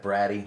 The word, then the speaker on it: Brady: And then Crawford Stevens, Brady, but it's spelled Brady, B-R-A-D-Y. Long story. Yeah, split of a family centuries ago.